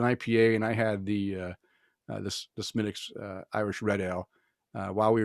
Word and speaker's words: Smithwick's: Well, I was trying to remember the proper way of pronouncing it because I always say Smithwick's, but it's not. It's Smithwick's Irish.